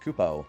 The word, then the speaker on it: Koopa: The Moogle pronounces Koopa like Capone, with all the emphasis on the Ku and the Po. It's super fast. Have I been saying it wrong my whole... I thought it was just Koopo. Yeah, that's what it was.